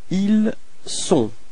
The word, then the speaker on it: ils sont: this liaison, and so the sound for avoir is ils ont, elles ont, okay, but then for être it's ils sont, elles sont. So actually this first sound, I mean this S, is the only way to dissociate être from avoir for il and elle.